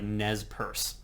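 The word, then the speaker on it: Nez Perce: was n but apparently the tribe themselves when they use that term pronounce it as like Nez purse okay so just to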